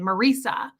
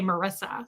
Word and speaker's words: Marisa: It's like my name, Marisa, but people always say Marissa, so I get it.